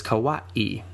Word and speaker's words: Kauai: But kawawaii is spelled between that last a and i. There's no kina. So it's kawaii.